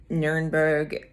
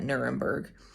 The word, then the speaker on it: Nürnberg: nuremberg or nuremberg um nurenberg i believe i'm pronouncing that correctly is the way it is said in german and then you know we americans call it nuremberg so this airbnb is